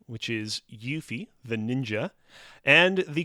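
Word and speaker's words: Yuffie: we're locking in on answer B which is yui the ninja and the correct answer is B it is indeed yui the ninja damn I was going to say Rufus you know she was it's actually pronounced yuy oh really I did not know that wow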